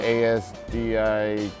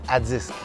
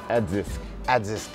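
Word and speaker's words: ADISQ: And I can't pronounce the ASDIQ. It's Adzisk. Adzisk.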